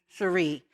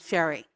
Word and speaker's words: Cherie: And when I was around 13, it was really clear to me that the pronunciation of my name was going to be Cherie, not Sherry.